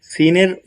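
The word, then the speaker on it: سين: ভাইটি জানেন না সে ভাইটিও জানতে পারবেন ওকে সিনের উচ্চারণটা কিভাবে সিন চিনবো কিভাবে তিনটি দাঁত থাকবে এবং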